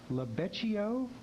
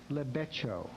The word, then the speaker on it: lebeccio: Okay, the next audience word has 2 pronunciations. It's lebeccio or lebeccio.